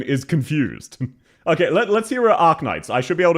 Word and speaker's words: Arknights: We don't say the vowel R. We never say the vowel R. So this is one you can hopefully hear yourself. She pronounces the letter R correctly when she says Arknights.